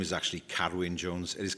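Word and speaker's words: Carwyn: My name is actually Carowin Jones. It is Carowin. That's the pronunciation in in Welsh.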